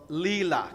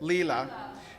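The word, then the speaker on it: Lila: The spiritual lexicon we're adding today is called Leela. Can everybody say it? Leela. It's spelled L I L A.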